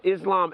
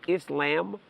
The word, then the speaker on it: Islam: wrong the whole time is his name Islam or is Islam cuz you're saying lamb that well that's what